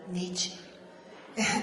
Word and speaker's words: Nietzsche: de un nich cona que pronunci la e al final nietche nietche vitalista será que